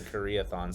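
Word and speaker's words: Karaethon: an in-world book called i'm going to butcher this pronunciation but the karathyl karathan cycle the prophecies of the koreathon gabe coming in club with the pronunciation yep the koreathon cycle process yes this is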